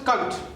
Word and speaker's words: Kant: It's pronounced as Kant.